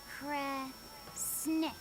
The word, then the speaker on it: Kresnick: If it's Snira, then it means should do. But if it's a snick, then it means don't do. The other word attached to it is pronounced kre. Which of those first two readings feels right to you? Sound it out. Kre, Snira, Kre, Snick. Kresnick. Kresnick I know that feels word.